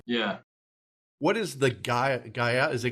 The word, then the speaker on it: Gael: What is the Gael? Is it Gael? Is that your mascot? It's a Gale, Roxbury Gales. Oh, it's a Gael.